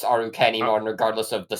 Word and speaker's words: Arukenimon: it it's still I think it's still just pronounced arukenimon regardless of the spelling it's it's because it's